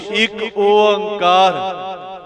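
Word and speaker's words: ੴ: इस नूं आपां तीन भागां विच उच्चारण करदे हां, एक ओंकार।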